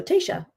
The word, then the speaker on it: Tasha: Pronounced like Aisha, but with a T at the beginning. So you got it right on the, so Tasha, right?